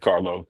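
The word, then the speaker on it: Carlough: Like I would have said Carlo, L-O-W, but it's L-O-U-G-H. That's the way it's spelled. Yeah. Jack Carlo, coolest guy in the building when I leave.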